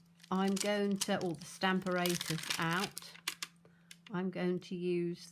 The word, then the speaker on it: Stamparatus: for me i say stamparatus because the pronunciation of apparatus is apparatus so it's stamperatus for me but i